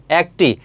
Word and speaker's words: একটি: একটি। দেখো উচ্চারণটা কি? এ এর উচ্চারণটা অ্যা এর মত হচ্ছে। এটা উচ্চারণটা হবে একটি। অ্যা হবে। তারপর হচ্ছে ক ট রশ্ি হবে।